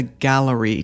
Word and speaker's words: Galleri: So, I'm going to talk about one such test called the gallery test and that's spelled g a l l e r i.